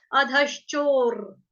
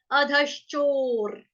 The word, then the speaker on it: अधश्चोर्: अभी र कौन सा कैसे बोल रही हूँ मैं? क्यों? क्योंकि रफार वाला और र आधा है, जब आधा र होता है उसका उच्चारण हम इसी तरह से करते हैं, अधश्चोर, अधश्चोर।